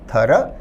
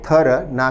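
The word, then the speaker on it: thorough: हमारा आंसर होगा option D थर। विद्यार्थी इस शब्द के प्रोनंसिएशन या उच्चारण पर भी ध्यान दें। उच्चारण है थर ना कि थरो। थर का अर्थ है विस्तृत जिसमें सभी जानकारियां हो।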